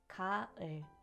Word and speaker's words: 가을: The first word is ga-eul, which means autumn. In Korea, it lasts from September to November with seasonal foods including apples, oysters, and corn. Our second word is ga-eul, meaning scissors.